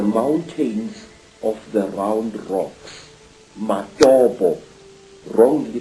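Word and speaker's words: Matobo: place called the mountains of the round rocks madobo wrongly pronounced matoto in in zimbabwe these hills are really not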